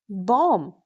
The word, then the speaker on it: bomb: it's subtle L M lamb B O M Bomb C L I M B climb last M pronounce.